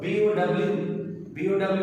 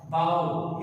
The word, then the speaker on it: bow: We have another word, B-O-W in verb, it is pronounced bow is jukka, just like prostrate. B-O-W in noun, it is pronounced bow, tir kama.